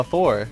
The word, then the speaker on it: Thor: Yeah, because the name Thor has two sounds that the Japanese phonetic alphabet really has a hard time making. You don't have the theta, the TH sound, and hard R.